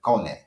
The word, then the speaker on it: Kone: They pronounce it Kone, and they know that that's that man, and he is the man when it comes to that.